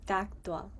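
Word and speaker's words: tattva: differently than what so the V becomes silent, but it sounds like a W, so it'd be taktwa, okay?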